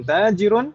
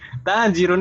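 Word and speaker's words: تاجر: Khalidun tajirun, taknya yang panjang, bukan jimnya.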